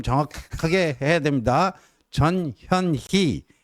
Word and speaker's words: 전현희: 전현희 발음 정확하게 해야 됩니다. 전현희 이 의원님께서 최고위원도 하시죠.